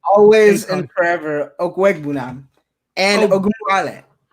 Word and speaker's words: Okwuegbunam: Pronounce that name. Always and forever, Okwuegbunam and Ogunwale. Okwuegbunam and Dare Ogunbowale.